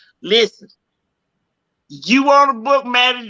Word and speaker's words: Mattie: Go on my page on the Maddie J, MATTIE, the second T is silent, MATTIEJ.